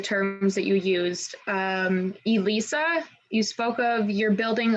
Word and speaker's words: ELISA: um but yeah essentially it's pronounced elisa although it could be read as elisa it's fine um but it's a essentially